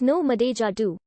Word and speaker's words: NO8DO: The phrase, pronounced with synelypher as no madeja do, is spelled with an 8 in the middle representing the word madeja, skein.